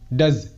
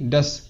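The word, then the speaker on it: does: দেখো এটাকে অনেকেই ডাস, ডাস এমনটা বলে থাকবে, মানে এসের উচ্চারণটা সয়ের মতো করবে, বাট এটা এসের উচ্চারণ সয়ের মতো হবে না, জয়ের মতো হবে, ডাজ।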